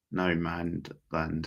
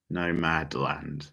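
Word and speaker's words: Nomadland: that no man yeah no mad land that's how you say it yeah it's the same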